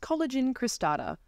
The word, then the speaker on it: Coelogyne cristata: that is very new to me and it's pronounced collagen cristata otherwise known as the angel Orchid it originates